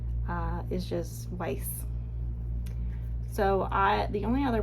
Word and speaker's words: Weis: if you haven't heard of this brand kiera weiss i always pronounced it kr but it's here k-e-e-r it's kind of how you pronounce it and then the last name here the second name uh is just weiss so i the only other product i have